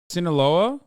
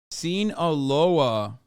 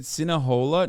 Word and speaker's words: Sinaloa: You said Sinahola? No, I didn't. I don't even know how to. Those Sinahola? I don't think I've ever said that. You said it wrong once, and chat can't shut the fuck up. You did once, but every other time you've been right.